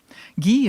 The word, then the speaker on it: Guy: Well, this afternoon, I would like to recognize and remember Alice Guy Blaché. Guy is spelled G-U-Y. We would say Guy, but in France, where she was born, it's Guy, and her married name was Blaché, B-L-A-C-H-E, aigu.